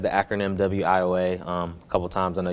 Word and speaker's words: WIOA: know about it well funny thing in the education community is wioa because they pronounce everything but yeah but it